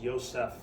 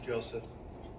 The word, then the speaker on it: Joseph: got a I uh it was pronounced Yosef quite quite often when I was uh are you Yosef now I I'm I'm Joseph please call me Joe